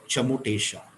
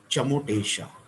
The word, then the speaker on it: Chamotesha: This sound is called Chamotesha. If I can put it up in English, spell it out in English. It is CHA Cha, MO Mo TE A SHA. Chamotesha.